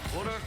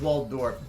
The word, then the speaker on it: Waldorf: Well, I think it's Waldorf. I'm trying to pronounce it correctly. Waldorf? I don't know. Yeah. Yeah, the L comes before the D.